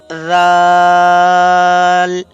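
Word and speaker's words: ذال: your tongue with the edges of your upper front two teeth and then you will start reading of this letter zaal, like that.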